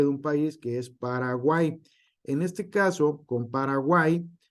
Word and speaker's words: Paraguay: Se pronuncia como I, no Paraguay. ¿Sale? Entonces, aquí está. Entonces, lidiais, que es en el español antiguo, lidieisis, dioico, miau, Paraguay, buey, guau, Cuauhtémoc, Cuautla.